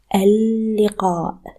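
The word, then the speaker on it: اللقاء: You add alif and lam at the beginning of a word to add the. So this word, the meeting, is read al-liqa.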